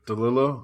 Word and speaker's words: DeLillo: Am I pronouncing that right? DeLillo? Mhm.